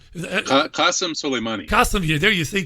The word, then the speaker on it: Qasem Soleimani: of killing the Iranian general, how do I pronounce it, Kevin? Solomon Qassemi. Qasem Soleimani.